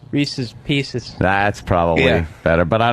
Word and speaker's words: Reese's Pieces: Yeah, you said Reese Pieces. It was Reese's Pieces.